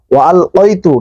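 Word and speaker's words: وَأَلْقَيْتُ: আরেকটা বিষয়, ওয়াল কাইতু, কাইতু না, কফ কাফ আলাদা, কফের উপর 2 নক্তা, এটা ওয়াল কাইতু মাহাব্বাতাম, নট মুহাব্বাতাম, মাহাব্বাতাম কি, মাহাব্বাতাম মিন্নি।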